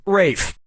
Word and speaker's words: Ralph: Yep, Rafe Fiennes' first name is spelled like Ralph, but pronounced Rafe.